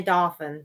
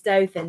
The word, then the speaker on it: Dothan: long way way right most most people that don't know how to say it say dolin oh do do it's Dothan d o t h n Dothan yep y'all teaching us